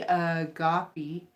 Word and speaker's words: agape: so and it's my name or home sisters pronounced me agape me agape ancient Greek is a greco Christian